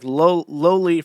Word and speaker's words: Loli: Sorry, I have to pronounce it as Pippa Pipkins instructed me to pronounce it. It's like Loli from Lolita.